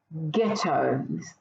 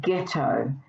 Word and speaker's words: ghetto: what about this word ghetto the word here is ghetto can you work out the silent letter here yeah it's the silent h the letter h is silent but the gh can